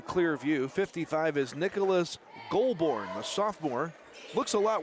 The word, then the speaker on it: Goulbourne: 55 is Nicholas Goulbourne, the sophomore. Looks a lot worse than it is. G-O-U-L-B, Golb, Bourne, like Jason Bourne of the movies, B-O-U-R-N-E, Goulbourne out there.